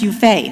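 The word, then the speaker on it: Yufe: oh no he says that's a French name it means it's pronounced you fade he thought quickly more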